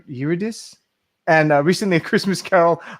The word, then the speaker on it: Eurydice: Hey, first things first, dude, I always say that name wrong. Eurydice? Eurydice.